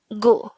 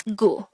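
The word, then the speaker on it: 구: Next, the Sino-Korean version of number 9 is gu. Again, it's gu. This is composed of just one syllable.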